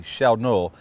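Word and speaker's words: Tjälknöl: It doesn't sound nothing like the way it's spelled because it starts with a T. But Tja lkno, that's what Filip told me it would sound like in American language.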